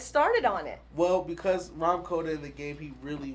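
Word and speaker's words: Rahm Kota: Ram Koda.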